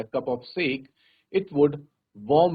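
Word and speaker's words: sake: देखो यहां पे कहा भी है कि सा को प्रोनाउंस करा जाएगा। जैसे फादर में फ को प्रोनाउंस किया जाता है और के को प्रोनाउंस किया जाएगा। जैसे हम वे बोलते हैं तो वैसे। तो क्या बनेगा बच्चों? साके। तो we will call it एज साके not seek.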